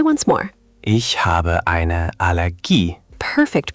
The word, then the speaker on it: Allergie: In German, it's not Allergie like the English, it's Allergie, with the stress landing on that last syllable. Allergie. The ending "gie" sounds like G in geese. Try once more. Ich habe eine Allergie.